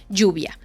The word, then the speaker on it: lluvia: y ya por último la palabra J de jeans esto es muy fácil digan jeans y vamos a decir por ejemplo la palabra lluvia Okay lluvia que es como Rain la palabra lluvia es jeans Y luego dices y